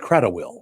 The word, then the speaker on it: Cradawell: It's pronounced Cradawell. Yep. Well, you left out like 4 letters.